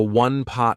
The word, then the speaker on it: one-pot: in one pot, and I want to draw your attention to how I pronounced it. Instead of saying one pot, I said one pot.